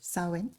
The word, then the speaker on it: Samhain: So the ancient Celtic festival of Samhain, it's spelt Samhain, but it's pronounced Samhain, marked the end of the harvest.